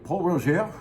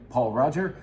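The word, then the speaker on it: Pol Roger: So we're gonna do Paul Roger, or as its biggest fan, who is now gone, but is still famously known for mispronouncing the name, Paul Roger.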